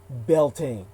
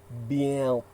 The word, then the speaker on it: Beltane: And it was more like, yeah, Beltane. Yeah, Beltane. Something like that.